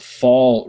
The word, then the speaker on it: Vaal: The Fall River, that's spelled Vaal, which comes out of the Drakensberg Escarpment here and flows down, eventually flowing into the Orange River, right?